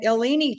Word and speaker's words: Illini: I'm from Ottawa, Illinois, from the Illini chapter, it's pronounced.